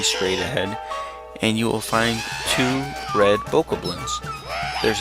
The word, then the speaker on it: Fi: Fe F you know I believe it's correctly pronounced fi I say that because you know there's that old saying F fi fo F and the second part F then fi is spelled fi which is the same spelling of fi here